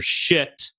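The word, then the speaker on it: Schitt: It tells the story of Swamp Cop and his new partner, rookie partner, Shit, who is a walking anthropomorphic pile of shit. But that's spelled S-C-H-I-T-T.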